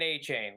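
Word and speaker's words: Achane: Is his name not pronounced a cane? Well, the announcers were saying A-Chain when I was watching his games back. All right. So I'm gonna give them the benefit of the doubt.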